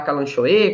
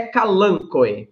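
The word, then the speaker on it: Kalanchoe: Então, tem algumas suculentas, Stephanie, como os calancoe, ou você pode falar calanchoe, calanchoe. Em latim, a pronúncia é calancoe, tá?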